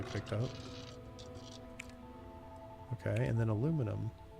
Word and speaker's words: aluminium: Okay, and then aluminum. Why do the Europeans pronounce this aluminium when there's only one I? Aluminum, not aluminium, but anyway, whatever.